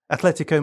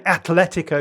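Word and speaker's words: Atlético: But you're saying it wrong. You're saying Athletico. I'm saying Atletico. Yeah. And that's not how it's pronounced. Why is that wrong? Because you because it's a soft T which runs into the L.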